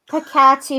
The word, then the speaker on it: peccati: Stipendium peccati Moses. Peccati? It's a double C, and I'm pronouncing it with the K.